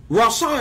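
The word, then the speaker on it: רצה: in the Strong's, which is a word called rasa. Which is R-A-T, S-A-H, Rasa. I had that spelled wrong. Now, Rasa is made up of the word Resh, Resh Sadi Hay.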